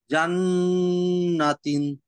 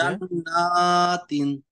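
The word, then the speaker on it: جنّاتٍ: ফালাম্মা জান্নাতিন, না, নাতে টান হবে। জান্নাতিন, গুড।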